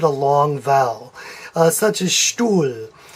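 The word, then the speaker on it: Stuhl: long vowel such as stool stool is s T u h L and the H is simply lengthening the U and so you don't pronounce this H and I should have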